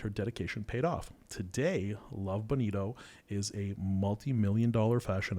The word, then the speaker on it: Love Bonito: there so Rachel is the Singaporean co-founder of Love Bonito did I pronounce it correctly exactly right okay love Bonito